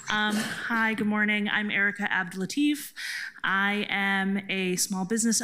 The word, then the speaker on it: Abdellatif: TIF district, and our first panel is Erica Abdelatif, Aaron Maxey, Jacob Loeb, and Joshua Allen Pangilinan. And I apologize for pronouncing names incorrectly, but I'll do the best I can with a long list.